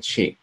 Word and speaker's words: Qi: Chinese medicine there is chi pronounced Chi but it's spelled actually with Qi in Ayurvedic medicine they